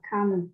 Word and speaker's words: calm: A đọc là calm.